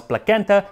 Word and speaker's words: placenta: shame you that said the pronunciation of today's dish actually probably was plaguenta because it comes from a greek word that is spelled with a k thus endeth the rant